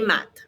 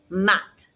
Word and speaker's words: maths: Les maths. No TH sound in French. So lots of words have TH, but it just ends up being a T sound. And of course, our S is silent.